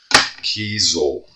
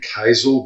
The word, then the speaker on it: Kiesel: zoom in a little bit yeah pretty neat Kel k i e s e l I'm assuming it's Kel I've been saying kaisel but a little bit of research says it's